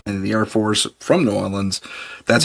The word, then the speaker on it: New Orleans: the Air Force from New Orleans. That's how you say it. Northern New Orleans. New Orleans. New Orleans or Nland or however it is you want to there's variations on it.